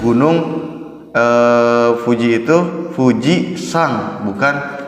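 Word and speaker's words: 富士山: untuk secara keseluruhan itu menunjukkan 6a gunungnya itu dibacanya gunung Hai Puji itu Fuji sang bukan uji ama yang namanya watashiwa fujisaki eh Iki Mas saya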